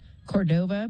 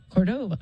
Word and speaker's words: Cordova: Sergio or Sergio and I'm gonna mispronounce his name because it has the accent in the front Cordova but it's Cordova Cordova is yeah I'm sorry